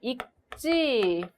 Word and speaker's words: 있지: 요 하루라도 책을 자 이걸 입지 라고 발음해야 될까요 1g 라고 발음해야 될까요 제 기억으로 시작되는 어미가 이어지는 경우가 않을 때는 기억으로 발음 하기 때문에 있찌 이렇게 발음하는 것이 맞습니다 있지 않으면 입안에 가시가 돋는다